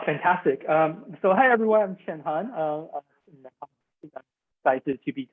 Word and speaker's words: Cheng-Han: from star wars and if you combine their name together jackie chen han solo that middle part you can time that's how you would pronounce my name and i'm very excited